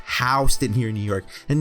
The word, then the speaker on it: Houston: industry disgusting oh and by the way it's pronounced housed in here in new york and now you yeezy as texas call it as houston chinatown looks nothing like nyc chinatown one positive